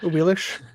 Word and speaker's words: Aix: Aish. So what are you saying? Aix is how it would be spelled. But they pronounce their exes as shes.